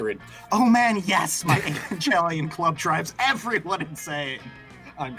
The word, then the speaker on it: Evangelion: dear i feel like evangelion's probably the right way to say it but i'm not going to say it that way i think it's evangelion because it like evangelist i think they're the same root word i'm still going to